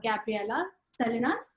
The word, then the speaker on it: Gabriela Salinas: And today here with us is Gabriela Salinas. Is that how you pronounce her name?